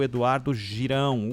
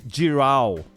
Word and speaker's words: Girão: isso até lá foi o Eduardo Girão ou giral como você ã achar que que deve pronunciar o nome giral do nobre do nobre